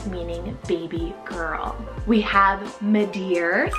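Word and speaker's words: Madear: Spanish rooted name meaning baby girl we have medar spell m a d e a r medar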